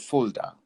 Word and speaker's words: Fulda: Yes, so it's the University of Fulda. So it's a Fulda. city in Germany. It's in the southern part of Germany, not too far from where we're growing up. It's called Fulda.